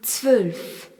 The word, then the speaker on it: zwölf: Le nombre 12 se dit zwölf. Z-W au tréma L-F. Le O avec un tréma ne se prononce plus O mais E.